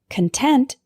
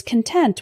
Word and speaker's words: content: security officer inspected the contents of my suitcase content is an adjective meaning satisfied or happy for example I was content with the grade I got on the test